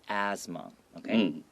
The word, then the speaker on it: asthma: And asthma here, even though there's a TH, a lot of times in spoken English, we just make it sound like A-S-S, asthma.Okay?